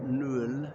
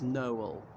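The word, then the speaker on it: Noël: dialysis over the e so it's not known it's no all to separate two separate um syllables that's enough about Nell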